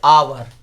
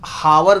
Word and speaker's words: hour: से शुरू होता है, जैसे आवर, HOUR, आवर, इसे हावर नहीं पढ़ते हैं, इसे पढ़ते हैं क्या, आवर, तो आवर पढ़ते हैं आवर, तो ये आ क्या हो गया, स्वर वर्ण, तो क्या लगेगा, एन आवर।